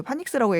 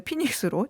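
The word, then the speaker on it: Phoenix: 제가 아까 그 애리조나주의 그 파닉스라고 얘기했는데 피닉스로 정정을 하겠습니다.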